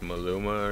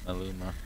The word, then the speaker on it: Maluma: It's like Maluma or something like that. But. Maluma. Yeah. Maluma.